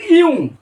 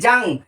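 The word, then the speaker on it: Jung: সেইটাও তোমার কিন্তু খেয়াল রাখতে হবে না হলে কিন্তু ভুলিয়ে যাবে ইউং যদিও আমাদের উচ্চারণটা চলে আসছে ইংরেজি যদি দেখি জাং কিন্তু বাংলা একচুয়াল উচ্চারণটা ইউ এই ইউং এর ভাগটা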